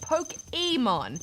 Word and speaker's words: Pokémon: indeed pronounced Pokemon why because of the accent above the E and if you listen to how they pronounce Pokémon in the show they actually say pokeemon it's even in the